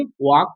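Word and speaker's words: walk: के से पहले एल है तो एल को नहीं पढ़ेंगे, एल क्या हो जाएगा मेरा? साइलेंट हो जाएगा। एल मेरा क्या हो जाएगा? साइलेंट हो जाएगा। इसको क्या पढ़ देंगे? वॉल। क्या पढ़ देंगे? वॉक।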